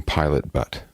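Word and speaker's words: Pilot Butte: going to focus there okay so she's from Pilot butt pilot pilot butt b u tte okay pilot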